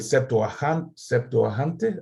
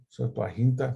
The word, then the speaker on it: Septuaginta: En primer lugar, porque el autor de Hebreos usa el Septuaginte, así se dice, Septuaginta, se me olvida cómo se dice en español.